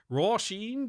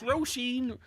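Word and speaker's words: Róisín: It's pronunciation, but Dublin it's the wrong like way. Roisin. Like there's the right way and there's the wrong way, and Roisin is the right way.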